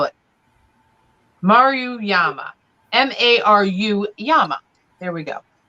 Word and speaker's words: Maruyama: It's Maruyama. Oh, good Lord. All right. We're going to spell it. Maruyama.